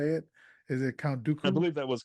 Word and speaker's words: Dooku: assume that's how you say it is it Count Dooku I believe that was correct yes I believe